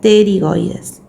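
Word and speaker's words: pterigoides: Si se escribe con P, pero se pronuncia terigoides.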